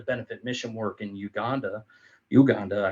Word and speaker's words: Uganda: Uganda actually is the way you pronounce it, and it was on